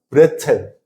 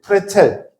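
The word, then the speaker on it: Brezel: 독일 음식 중에 프레즐 아세요? 프레즐? 원래 발음은 브레첼 혹은 프레첼, 독일식으로는. 근데 그냥 영어식으로 넘어가면서 프레즐, 뭐 이런 프레즐 이렇게 얘기하는데, 아시죠?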